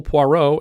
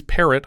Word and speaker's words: Poirot: the building, and he's introduced as Hercules Parrot by the office secretary, but corrects the woman's pronunciation. Poirot, mademoiselle, pucker your lips, as though about to bestow a kiss.